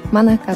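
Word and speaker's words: 愛佳: のやつで私の名前アイカって読んでたんですけど、マナカです。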